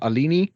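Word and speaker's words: Alinghi: Alini Racing? That edition, limited edition. Yeah. I'm going to say Alini. I think the G is silent.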